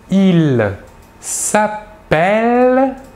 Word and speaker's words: s'appelle: En effet, le E suivi de double L se prononce est, alors que le E suivi d'un seul L se prononce E.